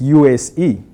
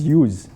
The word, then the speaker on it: USE: 3 letters, that is a 3-letter acronym, like USE, right? Right on the left. But then when you read the data, how people pronounce this, they pronounce it as use, right?